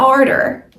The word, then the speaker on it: order: think about the food that you're going to order I cannot pronounce the word Manu it's not Manu it's